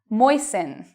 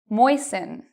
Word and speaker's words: moisten: Moisten. Moisten. So even though you see T-E-N, T-L-E, T-E-N, you do not pronounce the T in these words.